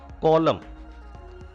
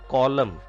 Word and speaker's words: column: Column. N is silent here. It is not column. Column.